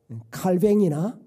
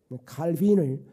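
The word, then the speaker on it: Calvin: 사실상 종교 계획을 일으켰던 칼뱅이 칼빈을 제대로 발음하면 칼뱅 있니다 부식으로 발음하면 칼뱅이 그다음에 루터가 매우 강조했던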